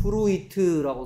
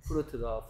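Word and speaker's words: fruit: RUIT 그래서 얘는 프루이트라고 소리 날것 같은데, 정작 발음은 프루트다.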